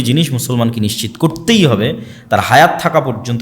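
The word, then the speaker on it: Torah: মুসা আলাইহিস সালাতু ওয়াস সালামের কওমকে যখন তাওরাত দেওয়া হলো, তোরাহ বলে ইহুদিরা উচ্চারণ করে, যে তোরাহ, যখন তাওরাত দেওয়া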